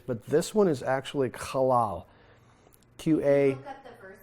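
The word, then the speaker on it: qalal: So this is the word that he says, anyone who treats you halal, which means to be slight, trifling, of little account, not important.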